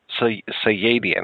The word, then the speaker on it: Sayadian: I wanted to ask you, how did you and Stephen, how do you pronounce Stephen's last name? Is it Sayadian? Sayadian, okay.